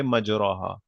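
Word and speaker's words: مجريها: है मुरसाहा बिस्म और इसको प्रोनाउंस कैसे करेंगे बिस्मिल्लाह मजरेहा व मुरसाहा इसको हम प्रोनाउंस नहीं करेंगे मजराहा that's not द वे इट is pronounced वबू फीहा Bismillah मजरेहा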